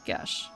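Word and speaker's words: geis: to how it looks, but it's pronounced more like Gesh.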